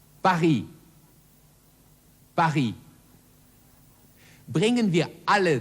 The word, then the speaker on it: Paris: Und drittens das stumme S, zum Beispiel im Falle der Stadt Paris, auf Französisch Paris.